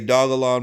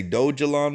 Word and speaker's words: Dogelon: it you could say dogalon mars you could say dojo on mars either one of those is fine with the community but wow bro i